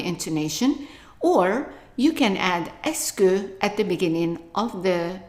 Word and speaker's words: est-ce que: Now, pronunciation-wise, just to remind you, the E, S, T, C, E, 5 letters are pronounced just like one letter S. So all of this is just pronounced S.